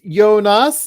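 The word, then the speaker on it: Jonas: Con as well uh is it pronounced yonas like yonas vingard yeah uh yes yonas yonas yonas Van Well I don't know how you would say it but I've heard it mostly pronounced yonas yonas almost like it's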